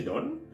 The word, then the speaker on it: donne: Je donne, tu donnes, and you have to pay attention. The E, you don't pronounce the E, A, okay? It's like, je donne.